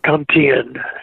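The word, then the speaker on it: Con Thien: Cantine, yeah.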